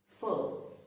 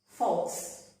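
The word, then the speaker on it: faux: F-A-U-X. So this is pronounced as full. It is not false, but it is full.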